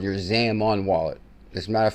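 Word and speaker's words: Xaman: self custody XRP wallet and that's called your Zamon wallet. As a matter of fact, the proper spelling is what? Zamon. What? How do you spell it? Zaman nun. Zamon.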